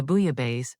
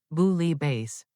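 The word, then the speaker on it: bouillabaisse: The last time someone ordered the booya base, they called it booie base.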